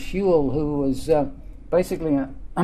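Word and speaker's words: Whewell: genics and it comes from William huel that's pronounced huel who was basically a a mid 19th century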